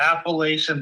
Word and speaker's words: Appalachian: It's the Appalachian Mountain. That's how it's said. What do you mean? What? I can't pronounce Appalachia.